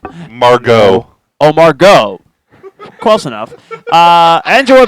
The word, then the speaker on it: Margot: Wait, did you just say Margaret? Margaret. That's how she pronounces it. Margot.